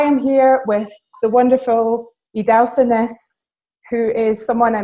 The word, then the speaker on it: Idahosa: How do people usually mispronounce it? Well, it's interesting because if I meet someone in person, I tell them Idahosa.